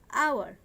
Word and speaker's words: hour: Here also hour, notice this word hour, HOUR, এখানে H এর উচ্চারণ হর মতো না হয়ে অর মতো হচ্ছে, যার কারণে এখানেও আওয়ারের পূর্বে অলওয়েজ অ্যান বসবে।